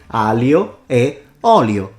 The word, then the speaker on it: aglio e olio: Why wouldn't just we remove the G and say aglio e olio? You know why we don't do that? Because it's not just an L. So he doesn't know how to pronounce the GL.